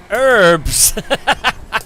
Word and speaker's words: herbs: actually wind me up when Americans say herbs instead of herbs I mean I'm pretty sure it's spelled with a h so why would you why would you ignore it herbs put your herbs